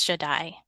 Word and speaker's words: Shaddai: I say, and knowing that I want to pronounce it biblically, so therefore it's Shaddai.